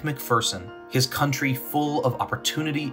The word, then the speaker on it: McPherson: We say it's McPherson, and we jokingly refer to there's no fear in McPherson.